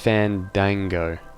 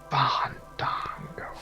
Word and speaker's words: Fandango: Well, and it's pronounced Fandango. Fandango. Fandango. You gotta let the A's breathe, Fissure.